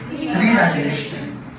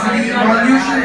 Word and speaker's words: revaluation: Okay, whenever I ask you, it should not be pronounced as revolution, it should be pronounced as revaluation.